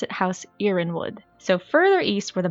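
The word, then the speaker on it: Yronwood: you can pronounce it Iran would you can pronounce it irin would it doesn't matter it's pronounced differently from different audiobooks and depending on who you talk to there is no one right way you can argue your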